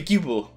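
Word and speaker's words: Guibard: always mispronounced your surname we're joined by goobard i'm i am i'm pronouncing that right no you're not we are joined by gilbert who is the chief growth officer at openpage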